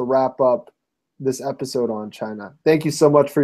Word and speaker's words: Chynna: name actually it's at china out loud it's spelled a little differently if chy and na underscore o UT l